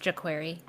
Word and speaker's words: jQuery: It's pronounced jQuery.